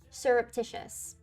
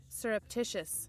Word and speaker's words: surreptitious: Surreptitious. Surreptitious.